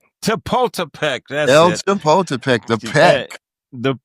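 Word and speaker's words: Chapultepec: Well, uh before we leave Denver, tell me about uh I always get the name wrong when I was living there. Uh uh El Chaput El Chapultipek. Chapultipek.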